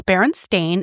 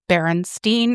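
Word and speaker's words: Berenstain: It's Baron Stain. It has always been Baron Stain. A I N like stain.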